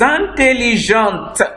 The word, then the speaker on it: intelligente: You say a girl will now say je suis intelligente. The T will be pronounced.